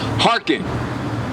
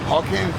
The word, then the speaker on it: hearken: Hey, Brother Charles, what do hearken mean? Say it again. Hearken. It's like you spit up? No, hearken means to listen. Hawking?